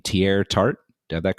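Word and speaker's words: Teair Tart: lineman um I believe you say his name tier tart do have that correct correct yeah that's right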